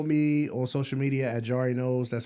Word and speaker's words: Jarri Knows: you can follow me on social media at jar noos that's spelled j a r r i k n